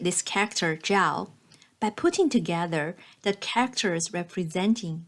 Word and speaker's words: 曌: and for that she created a new character 曌（pronounced as Zhao）by putting together the characters representing the sun 日,